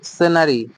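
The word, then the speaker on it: stationery: 21 হচ্ছে কি stay স্টেশনারি স্টেশনারি আরেকটা স্টেশন ই আর ওয়াই নারী স্টেশনারি ঠিক আছে উচ্চারণ দুটাই হচ্ছে স্টেশনারি কিন্তু যখন এ আর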